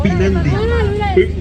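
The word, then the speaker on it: Pynandi: Porque yo digo Pinandi. Porque es el nombre del estadio de fútbol playa, es el estadio Los Pinandi. Claro, pero no se Pinandi pronuncia. significa descanso.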